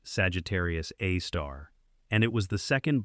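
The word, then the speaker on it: Sagittarius A*: It is called Sagittarius A, pronounced Sagittarius A star and it was the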